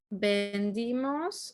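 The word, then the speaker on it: vendimos: present or past because the present tense of bender would be vendemos right that would be we sell but when demos with an i that's we sold so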